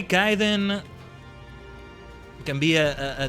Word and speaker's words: Khaiden: And yes, it's meant to be pronounced Kaiden, not Kaden. If you call me Kaden, it's okay. Just know that it's Kai.